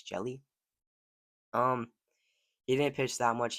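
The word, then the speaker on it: Hjelle: There's no player at 6'10", but there is one at 6'11", and that is Sean Jelly. I think the H is silent, so it's Jelly.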